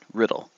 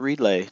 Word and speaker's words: Riddle: That's right, Riddle. Not Relay, not Readla, not, not Riddell. Riddle. Just like it's spelled.